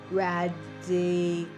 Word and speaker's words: Radicofani: So we are in Radicofani, or Radicofani, which is how we learned is the true pronunciation, that second version, from a woman from Turin who was walking the trail.